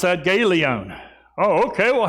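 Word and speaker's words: Galion: How are things up there in Gay Lion? Well, I don't know. You pronounce that Galeon.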